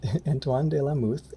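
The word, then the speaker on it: Antoine de la Mothe: comparable heights so uh this is named after anthon de la muth oh fractals i forgot to ask you how to pronounce his name um antoine de la muth sir the cadillac he was born antoine lumet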